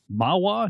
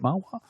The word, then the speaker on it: Mahwah: North American headquarters in Mahwah, New Jersey. Is that how you say it, Mahwah? Yeah, I believe so, yes.